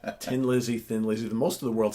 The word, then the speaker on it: Thin Lizzy: lot of Irish viewers who like you don't pronounce the name right 10 Lizzy Thin Lizzy the most of the world system Lizzy my own you say tin Lizzy because you don't pronounce HS that's totally fine